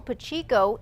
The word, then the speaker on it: Pacheco: Jessica, this complaint was sent to the Attorney General's office today alleging State Representative Paul Pacheco, that's how he pronounces his name, failed to disclose a conflict of interest in a major project.